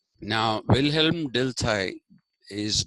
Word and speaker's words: Dilthey: and I was talking to you about Wilhelm dilai now Wilhelm dilai is w i l h e l m willhelm d i l t h y delai uh he was somebody who believed in a